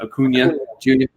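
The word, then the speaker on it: Acuña: And I always pronounce his name wrong, but Ronald, how the hell do you pronounce his last name? Acuna Jr.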